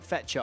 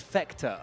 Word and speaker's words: Fecta: Sorry, I was calling it Fetcher. I do apologize. It's Fecta. Okay.